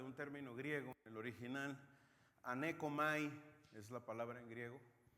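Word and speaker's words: ἀνέχω: fuera H pero la la H aquí no se pronuncia y es aneco y esto quiere decir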